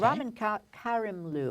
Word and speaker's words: Ramin Karimloo: And Ramin Karimloo, I said it wrong before, who we saw